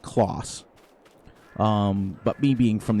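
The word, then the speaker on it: Claas: to me the actual it's actually pronounced close um but me being from the united states i say class um the company itself started in 1913.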